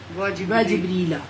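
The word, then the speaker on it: جبريل: सानी है और जिब्राइल और जिब्राइल जिब्रीला जिब्रीला फिर आप सही इसको प्रोनाउंस करेंगे ना क्योंकि लफज़ आपको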